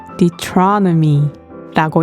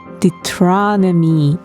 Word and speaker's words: Deuteronomy: 신명기는 Deuteronomy라고 읽어요. What? I said 신명기 is called Deuteronomy in English.